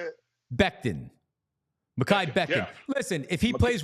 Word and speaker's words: Mekhi Becton: I want to make sure I'm pronouncing his name correctly. How did you say it? Becton. Mekhi Becton.